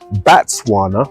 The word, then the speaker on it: Batswana: here from the beginning batswana which is how you say it in swana had different ideas about